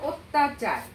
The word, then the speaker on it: অত্যাচার: আবার পরের উদাহরণটি দেখো অত্যাচার হ্যাঁ অত্যাচারে অ এখানে সরাসরি আদ্য অ দেয়া আছে লেখা আছে অত্যাচারে এখানে অ স্বরধ্বনিটি কি উচ্চারিত হচ্ছে কিসের মতো করে ও স্বরধ্বনির মতো অর্থাৎ অত্যাচার এবং সেই